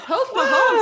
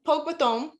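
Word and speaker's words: póg mo thóin: And the way you say it is, look at my van, it's Pogue Mahomes, Pogue Mathome.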